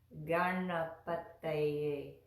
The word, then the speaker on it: Gaṇapataye: It's not Gaṇapataye, it's Gaṇapataye, Gaṇapataye. So here's how we do this. The first letter that looks like an N with a dot under it, that's a nasal sound, and it's pronounced in